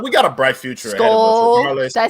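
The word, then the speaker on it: Skol: But anywho, but we got a bright future Skull. ahead of us. Did I say it right? Skull.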